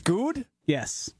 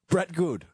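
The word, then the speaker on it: Goode: I mean what Josh you don't pronounce the e at the end of his name it's good yes goody no just like Brian gun it's goody good Brett good yeah put some respect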